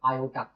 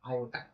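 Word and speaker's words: iota: उस नंबर का नाम था आर और उसे बोलते थे आयोटा। स्पेलिंग मेरी आई ओ टी ए आयोटा।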